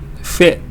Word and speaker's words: fit: the same Happening Here you say a long e here feet but here you just say oh this jacket doesn't fit fit fit my tongue just goes up a little bit right behind my front teeth Upper Front Teeth and